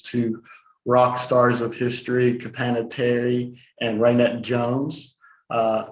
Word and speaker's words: Capanna: rock stars of history capanna terry and raynette jones uh kapana which rhymes with banana you will see in